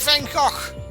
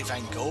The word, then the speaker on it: Van Gogh: I am like Van Gogh. Ha! Gotcha there. I pronounced it correctly because I'm Belgian. All you guys would say Van Gogh or something.